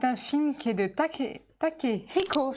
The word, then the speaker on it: Takehiko: Donc c'est un film qui est de Takehiko, je le prononce bien, sinon je vais me faire taper sur les doigts. À prononcer le H.